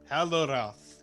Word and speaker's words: Hallorath: Hallorath, yes. No, I think you crushed it. Yeah, thank you. What's a Hallorath? It's Aldous' last name. Whoa. The L is silent.